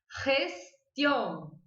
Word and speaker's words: gestión: Então, eu vou dizer essa palavra gestión. Gestión. Bom que a gente já aprende o T também, né? Que ti, gestión.